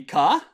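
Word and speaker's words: か: really the pr the intonation is almost always going to be ka yeah yeah yeah most questions end in a ca like da da da da da da and it always it almost always is that higher international yeah great yeah sorry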